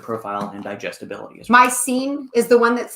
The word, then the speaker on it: micellar: Now that is from a combination of whey protein isolate and micellar casein.